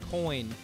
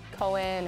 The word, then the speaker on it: Koehn: there's her last name it might be spelled k o e h n but come on guys it's pronounced coin I get a lot of Coen or keen and yep but that's